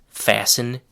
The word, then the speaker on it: fasten: The next collocation is fasten your seat belt. The word fasten is spelled F A S T E N. The letter T in fasten is silent, kind of like in the word listen.